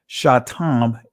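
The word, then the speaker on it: שטם: Satam. Even though in ancient Hebrew it's pronounced shatam because uh when we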